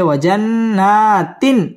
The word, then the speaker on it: وجنات: وجنات الفافا وجنات الفافا ওয়াও ঠোঁট গোল করে উচ্চারণ করতে হবে ওয়াজান ওয়াজিব গুন্নাহ করে পড়তে হবে হরকতের বামে নুনের মধ্যে তাসদীদ আসছে ওয়াজান্না মধ্যে তবাই খারা জবর আসছে একালিফ টেনে পড়তে হবে ওয়াজান্নাতিন ইজহার গুন্নাহ ছাড়া স্পষ্ট করে পড়তে হবে ওয়াজান্নাতিন